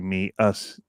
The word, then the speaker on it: Muse: It feels like very me us kind of thing. I think I looked at their website Muse. or something I was looking at, and that's how it's supposed to be pronounced, is me, us.